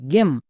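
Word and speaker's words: game: একই রকমভাবে জি এম ই গেম একে আমরা গেইম বলবো না।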